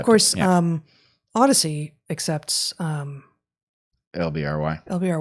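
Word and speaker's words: LBRY: I think we should we would be thrilled to and of course um Odyssey accepts um LBR Y. LBR Y. Yeah, which I think they pronounce library, but yeah, LBR Y.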